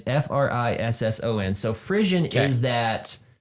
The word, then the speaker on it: frisson: It's either Frisian or Frishon. I don't know exactly the way to pronounce it. I think it's Frisian. It's Frisson.